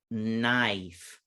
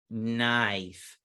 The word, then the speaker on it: knife: get that incredible or the long version knife knife in this word i do not hear the k or the e remember the e is a signal it's